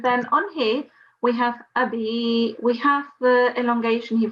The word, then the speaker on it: أبي: It's Abi, not Ahi.